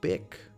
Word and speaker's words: BIQ: This one's from BIQ, BIC, as it is pronounced, apparently.